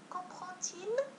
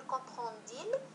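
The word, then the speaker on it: comprend-il: لاحظوا معي هنا الآن كومبرونتيل، إذا هنا لو دي أيضا نطق مثله مثل الحرف تي، لم نقل كومبرونديل وإنما كومبرونتيل، إذا لو دي ينطق تي.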